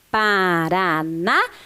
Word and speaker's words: Paranaguá: letras g u a lembrando que o a tem aqui o acento o acento agudo porque a sílaba gua é a sílaba mais forte desta palavra é a sílaba tônica Então nós vamos repetir